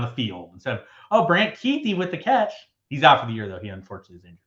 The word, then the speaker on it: Kuithe: It's like Kuithe, so like it's pronounced like Keithy. How much like harder and cooler is a name Brant Quaith?